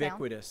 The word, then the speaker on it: ubiquitous: Did I say it's U with a long U sound? Ubiquitous.